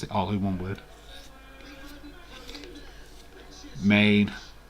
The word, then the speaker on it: Maine: It is Maine. It's the only one with 1 syllable.